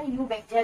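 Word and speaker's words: Eubacteria: इसको क्या बोला जाएगा, यू बैक्टीरिया, क्योंकि इसके अंदर क्या होगा, साइलेंट रहेगा।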